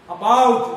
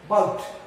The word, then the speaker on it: about: शुद्ध उच्चारण जो है, ये पहली जो अ की ध्वनि है, ये बहुत ही हल्की ध्वनि है, जिसे शॉर्ट साउंड कहते हैं इंग्लिश में. बाउट, नॉट अबाउट, बाउट.